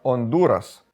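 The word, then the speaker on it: Honduras: Назва Гондурас (іспанська вимова – Ондурас) у перекладі означає «глибини».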